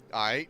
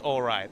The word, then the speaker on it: aight: Aight? Yeah, all just right. aight. Not pronounced alright. It's aight only, so...